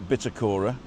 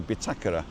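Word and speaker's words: bitácora: I always say this it's not bitacora because there's a little Accent on the a so it's got to be bakura and it's uh it's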